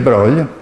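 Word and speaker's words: de Broglie: un grande fisico francese il video broglio si pronuncia così le ho scoperto andando a brugg li paese il paese natale dei conti dei brogli del roi e nel 27 anche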